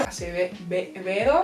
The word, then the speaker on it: Acevedo: It is Clap When You Land by Elizabeth Acevedo. Whoa, you pronounced that so nice! I've had a little bit of Spanish in high school, nice. Acevedo.